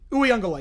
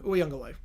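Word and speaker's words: Uiagalelei: Uyunglele is how you pronounce his name. Uyunglele.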